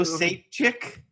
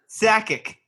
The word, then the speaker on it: Sakic: Joe Sapchik. What? What? Joe Sakic.